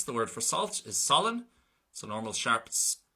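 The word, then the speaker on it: salann: Same thing then for S, the word for salt is solan, so normal sharp pronunciation, solan.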